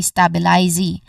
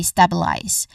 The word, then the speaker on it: stabilize: And in here, as you've noticed in the spelling, there's a letter E in the end. Of course, in the end. But we do not say it. We do not pronounce it, which means that this particular letter is a silent letter. We do not say stabilize, but we say stabilize.